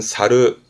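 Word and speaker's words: 去る: 얘를 또 동사로 쓰게 되면 발음은 사르 사르 갈 걷자니까 한자 그대로 떠나가는 뭐 예를 들어 고향을 떠나간다라든가 직장을 떠나간다 또는 뭐 자리를 떠나는 그럴 때의 사료를 쓰기도 하는데요.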